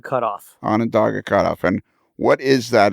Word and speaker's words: Onondaga: called the Onondaga how do you say it on a dog a cut-off Onondaga cutoff and what is that excited its Conrail